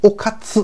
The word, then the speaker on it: おかつ: 日语原文中它的名字发音叫做 Okatsu，这个 O 是没有什么